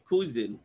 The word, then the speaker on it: cuisine: সি আমরা যে উচ্চারণ করি কয়ের মতো, ইট ইজ not right. C ইজ প্রনাউন্সড অ্যাজ খ। কিরকম উচ্চারণ হয়? কুইজিন, কুইজিন, নট কুইজিন।